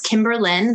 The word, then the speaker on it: Kimberlyn: okay it's my name it's kimberlin that's kimberly with an n um underscore dispel it